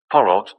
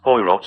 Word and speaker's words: Poirot: Porrot, the Frenchman, said Kingsbury. I've looked everywhere. He's Belgian. His name's pronounced Poirot and he's in the drawing room, said Timothy.